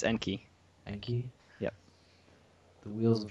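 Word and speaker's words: Enkei: Like, how do you pronounce that? It's like Enki, Enki. It's Enki.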